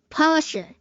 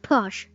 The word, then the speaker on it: Porsche: Not Porsche. Porsche. Porsha, not Porsche.